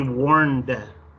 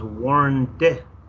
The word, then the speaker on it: warned: And they warned. No es warn con N. La última pronunciación no es N, no es warn, es warned. Se tiene que oír ese D al final. Si no, está en el presente.